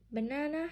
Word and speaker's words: banana: Do you pronounce all the syllables the same? Ba-na-na. No, you don't. 1 syllable is stronger. Banana. This is stress.